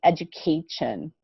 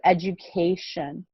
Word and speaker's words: education: kind of strange because you see the letter t but we don't really say education right it sounds really weird so we say it more like the letter s okay so education okay can you try